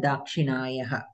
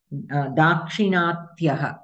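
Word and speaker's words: दाक्षिणात्यः: A person who comes from the south is called Dakshinayaha, Dakshinayanaha, Uttariyaha, or I think I'm saying it wrong. How do you say that? Dakshinatyaha, Dakshinatyaha. So, Uttaratyaha, we can say.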